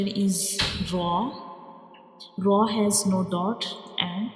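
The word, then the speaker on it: ر: And the second difference is Ra is a bold letter. We read it with heavy sounds like Ra. When we pronounce Ra, the sound fills into the mouth like Ra.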